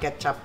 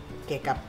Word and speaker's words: Kecap: this is ketchup Manis it's pronounced ketchup it's not take up okay you can buy